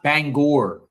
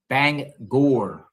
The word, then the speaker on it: Bangor: It's pronounced Bangor. Bangor. Yeah, Bangor, Maine.